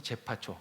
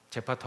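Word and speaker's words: 제페토: 그 영감이 제파초, 그렇죠? 제파토 할아버지 발음이 제파토 할아버지 생각나시죠?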